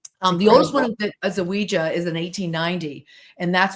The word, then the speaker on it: Ouija: So, and it is pronounced Ouija phonetically, because back in the day when they sold the planchette in the box, the board with the box, it actually said, pronounce it Ouija. They gave the phonetic spelling.